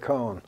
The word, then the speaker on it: Cohn: Cohn does rhyme with Cohn.